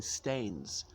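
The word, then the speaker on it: stanes: the hanging stains so not stained as in something which is a bit dirty but that some Scots dialect pronunciation of stone because in Scots dialect people usually just um change the vowel one vowel on each word so the hanging stones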